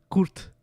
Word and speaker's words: kort: Kort. Kuch? Is that Kort? K-O-R-T. K-O-R-T. Oh, court. Kurt. Okay. Yeah. It's like court, but Kurt.